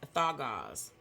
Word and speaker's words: Dagaz: The pronunciation of this word, of this rune, is Thagaz, meaning dawn, daylight.